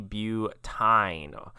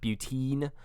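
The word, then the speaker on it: butyne: so this would be butyn or butane you could probably also pronounce that butene but uh you would want to make sure you spell it with a y this is also not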